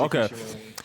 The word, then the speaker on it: Masashi Kishimoto: Masashi Okay. Kishimoto.